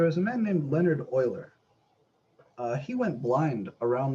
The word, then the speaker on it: Euler: the last name here e l r is pronounced Oiler and it's actually after him that the number